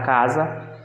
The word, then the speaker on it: casa: vem, se for colocar na palavra casa, se a gente for pronunciar, vai ter o som da letra Z.